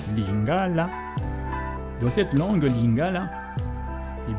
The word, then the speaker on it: lingala: Ainsi donc, en lingala, d'abord, tenez compte du fait que la langue lingala, et non lingala, comme certains essayent de prononcer à la française, la langue lingala, l'accent tonique tombe, lingala.